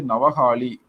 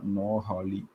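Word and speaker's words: Noakhali: ஸோ அந்த கல்கத்தா கலவரத்துல வந்து ரொம்ப பாதிக்கப்பட்டது வந்து நவஹாலி சம்திங். ஸோ நவஹாலி அப்படின்ற இடத்துல வந்து ரொம்பவே பயங்கரமா ஸ்பெல்லிங் கரெக்டாக சொல்ல போனா நோஹாலி. ஓகே தமிழ்ல நவஹாலின்னு வருங்க. இப்படிதான் ப்ரொனவுன்ஸ் பண்ணணும்.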